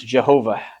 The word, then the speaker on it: Jehovah: It's the four uh consonants that make up the the name that we typically pronounce Jehovah. having inserted the vow uh sounds of Adonai in there.